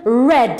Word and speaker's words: read: the past simple, but it changes in pronunciation. So the verb to read in the infinitive form is read, or in the present it's read. But in the past form it becomes read, like the color red, alright?